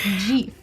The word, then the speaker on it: GIF: Robert saying that the creator of GIF speaks French, so he says that it's pronounced GIF.